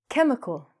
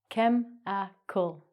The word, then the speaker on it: chemical: And chemical. We don't chemical. We take out the H sound. The H is silent. chem-i-cal chemi-chal No, don't even worry about the English.